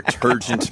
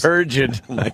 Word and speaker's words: turgid: Your turgent man hose. Turgid. Turgid, sorry. Yes. Turgid, right. Well, I only learned that word recently from Jim Norton. I got to say it properly.